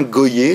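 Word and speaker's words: Gohier: Et puis vous avez en 1909 un auteur qui s'appelait Urbain Goyer, ça s'écrit G-O-H-I-E-R, qui publie, lui, La Terreur juive.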